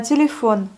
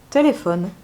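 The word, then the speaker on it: телефон: Ensuite, on a téléphone. Là, le O est bien accentué. Donc, on le prononce bien comme le O. Téléphone. Téléphone.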